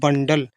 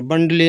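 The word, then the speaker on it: bundle: डा, L से ला, और E साइलेंट होगा, ये लिखा बंडल, ई से मात्रा नहीं चढ़ेगी यहाँ पर, बंडले नहीं बंडल, इस तरीके से।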